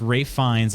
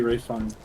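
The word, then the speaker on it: Ralph Fiennes: Today I learned his name is pronounced Rafe Fiennes.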